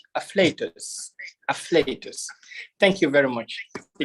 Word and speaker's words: afflatus: Some pronounce it as afflatus, some say affluatus. The correct pronunciation is afflatus.